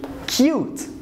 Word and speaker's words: cute: This word here, it ends with a vowel and then consonant and then E. Can you see this pattern? So I'm gonna pronounce this vowel as a letter in the alphabet, which is U. So I'm gonna say cute.